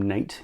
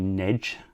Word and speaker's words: Nate: Zebra Dry Plates, and we do pronounce his name Nate. He has confirmed that for me now. So apologies, Nate, for calling you Nedge in the last few videos.